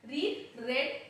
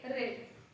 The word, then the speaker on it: read: Here the read, it is written same but it will be pronounced as read, read.